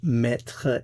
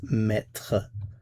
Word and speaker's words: mettre: Remember, the basic meaning of mettre is to put, as in to put something somewhere. It has other meanings, but the basic meaning is to put. So again, the pronunciation is mettre, mettre, mettre.